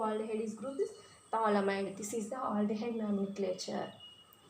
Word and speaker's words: phthalimide: Phthalimide. P is the silent letter. Phthalimide.